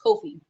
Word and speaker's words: Ko-fi: services too on my coffee shop Mike Kofi yeah it's Kofi I pronounce it coffee but the Kofi shop